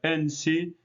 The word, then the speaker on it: ensi: Entonces sería patesi, que nosotros lo vamos a pronunciar en sí y significa gobernante.